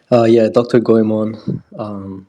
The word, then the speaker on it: Goemon: Dr. Goemon, my alias for this specific project in which I'm a core contributor, aka Chief of Propaganda. Dr. Goemon is how you pronounce it.